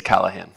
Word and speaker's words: Callahan: said I said your I pronounced your name wrong sir please correct that's okay it's Callahan well good morning everyone